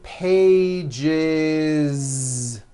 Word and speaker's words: pages: Two pages. It's not two pages, unvoiced, no. It's two pages with a voiced Z. Even though you spell the word like this, in American English, you pronounce the word like this.